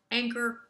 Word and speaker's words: Angkor: getting an update on anger resources did i pronounce that properly you got it tracy great to be